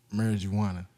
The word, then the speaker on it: marijuana: Nobody pronounces the J in marijuana. It's a marijuana.